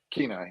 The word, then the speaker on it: Kenai: Kenai, yeah. Kenai. Or Soldotna. I can't remember which one you'd mentioned. It's either Kenai in the town, right in the actual town of Kenai, is where the job is there.